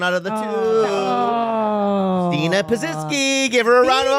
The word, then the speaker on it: Pazsitzky: It's Pazsitzky.